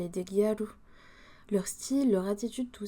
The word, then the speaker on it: Gyaru: Le nom Gyaru, il vient de girl, raccourci en gal, et prononcé Gyaru par les japonais.